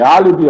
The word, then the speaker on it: álibi: todas as proparoxítonas todas proparoxítona é aquela que a antepenúltima sílaba é a mais forte então coloquei exemplo aqui Álibi olha como é que se escreve Álibi estereótipo tá olha como